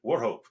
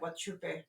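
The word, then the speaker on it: Wauchope: I mean Warho. Warho was underwater for a bit. You kept pronouncing it Wupe.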